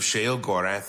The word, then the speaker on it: Sheogorath: Oh, I was pronouncing it Sheogorath right.